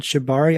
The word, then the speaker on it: Shibari: I think it's called Shibari. I don't know how to pronounce it. Is that right? So Yeah, for that's those who correct. don't, Yeah, it's a Japanese word.